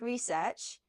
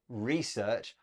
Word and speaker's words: research: looking at the headline a note about pronunciation Beth you said research I say research it's just a check change in word stress and both are fine now the headline we